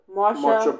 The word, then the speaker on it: Marcia: Marsha Ball.